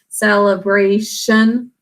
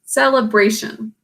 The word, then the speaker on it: celebration: The 2nd syllable is unstressed. It's muffled. We should have an E sound there, but it gets muffled because we really pronounce celebration. Let's see, celebration.